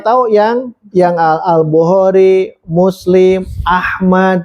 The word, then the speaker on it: Ahmad: Belajar musis bakal tahu yang yang Albukhari, Muslim, Ahmad. Tidak boleh alahmad. Abu Daud, At-Tirmidzi, Annasai, Ibnu Majah. Itu kan yang tujuh masyhur ya. Nah itu teh cara membacanya ya sesuaikan. Kalau ada al, al, kalau tidak. Ini riwayat Albukhari.